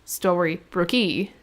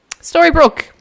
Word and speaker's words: Storybrooke: dylan okay town nine story brook with an e on the end not pronounced story brookie or story broke e order story broke storybrooke is the name of the town there's also a yellow